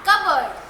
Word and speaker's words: cupboard: अच्छा, cardboard और उसी के जैसा cupboard. Spellings are almost same, but the pronunciation is different.